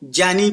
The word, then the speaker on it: ज्ञानी: इसको ज्ञ पढ़ के ज पढ़ा जाए। क्या पढ़ा जाए? ज्ञानी को ज्ञानी पढ़ा जाए तब आएगा ये। तो अब भले ही हम उच्चारण हमारा जैसा भी है हम बोल पा रहे हैं। ज्ञानी कहते हैं ना अब उसको ज्ञानी नहीं ज्ञानी ज आना चाहिए।